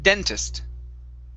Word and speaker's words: dentist: here is dentist okay so the stress is at the very beginning instead of dentist it's dentist dentist okay very nice um